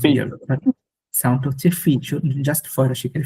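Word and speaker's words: fille: ফি ফ্রেঞ্চে আপনার ভিল বা ভিলা এই ওয়ার্ড গুলো বাদে বাকি যেখানে আপনার ডবল এল পাবেন এবং আগে আই পরে ই পাবেন, ওখানে ডাবল এলটা সাইলেন্ট হয়ে যায় ফ্রেঞ্চে।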